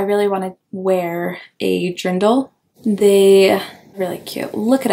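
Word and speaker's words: Dirndl: into that I really want to wear a dindle they really cute look it up it's spelled Dr it's spelled D i r n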